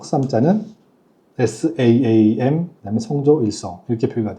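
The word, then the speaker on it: 三: 볼게요음 다르게 읽죠 석삼 자는 saam 이래서 길게 읽어요 싸 싸음 내 마음 신자는 Sam 쌈 쌈 쌈 이렇게 읽죠 어 근데 처음에 제가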